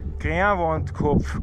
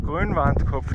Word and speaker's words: Grünwandkopf: Der Kerl in dem Sinn vom, ich habe es vorher falsch ausgesprochen, Grünwandkopf, Grünwandkopf, nicht Wald.